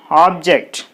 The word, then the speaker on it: object: syllable object second syllable object is a noun so while noun is there the stress should be on the first syllable so there should be